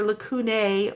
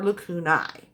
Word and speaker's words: lacunae: an E, and then you call it either lacunae or lacunae. Either pronunciation is fine.